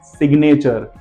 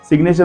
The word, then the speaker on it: signature: Second spelling है सिग्नेचर। सिग्नेचर में भी देखिए SIGNATURE, सिग्नेचर। वहां पर भी हमें जी के पीछे एन दिख रहा है, फिर भी उसको हमने ज नहीं पढ़ा, ग पढ़ा।